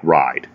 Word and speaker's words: ride: Okay, so a word like ride. And you will notice that in English, okay, a word like ride, we don't pronounce the final E. Okay, it's known as the silent E.